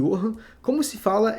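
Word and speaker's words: Johannes: o ioiô hum Gutemberg se escreve jorranes mas se fala em honra como se fala é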